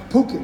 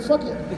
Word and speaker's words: Phuket: But I learned the hard way that it's pronounced Phuket. So when you fly into Phuket, don't get off like I did and say, hey, it's great to be here in fuck it.